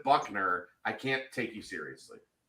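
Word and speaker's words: Buchner: be Tyler Buckner and if you spell your name bushner and you pronounce it Buckner I can't take you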